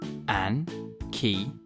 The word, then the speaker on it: ankylosaurus: ankilosaurus how do you say that again an key how big was an ankylosaurus it was as